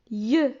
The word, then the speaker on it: yeux: Yeux, ça s'écrit Y-E-U et ça ne se prononce pas I-E, ça se prononce yeux.